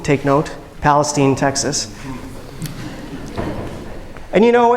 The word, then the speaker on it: Palestine: nowhere rural East Texas in a town called Palestine but actually it's pronounced Palestine take note Palestine Texas and you know it's really not such